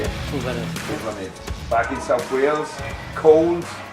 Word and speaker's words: Llwellin: Llwellin.